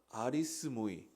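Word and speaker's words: Ἀριθμοί: 그러면 아리스모이 아리스모이 여기에 중요한 거 뭐예요? TH 뻔데기 발음이에요. 성문 종합리용 잠깐 하면 th 발음 뭐예요? 뜨 혀를 물어 주셔야 돼요.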